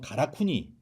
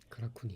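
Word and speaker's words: 韓国: 한국 신사라는 명칭이 굉장히 많았는데 이게 이제 일본어 발음으로 하면 가라쿠니. 가라쿠니.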